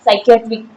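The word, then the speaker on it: psychiatric: है यहां ठीक है साइकट्रिक मनोवैज्ञानिक स पी का साइन पी साइलेंट होता है साइट्रिक देखो देखो स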